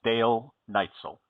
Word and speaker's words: Dal Neitzel: Hopefully enough people will hear this to know that from now on, the correct pronunciation of your name is Dale Neitzel.